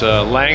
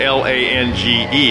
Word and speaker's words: Lange: It's Lang Originals. .com. Okay. Lange is spelled L-A-N-G-E. It's a Lange if you're German.